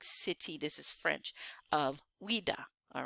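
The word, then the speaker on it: Ouidah: All right, so however you spell it, but it's Ouida.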